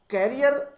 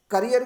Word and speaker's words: career: करियर क्या? CAREER। कैरियर और करियर। कई बार क्या होता है कि बच्चे करियर को भी कैरियर ही प्रोनाउंसिएट करते हैं, लेकिन कैरियर वर्ड अलग है, करियर वर्ड अलग है।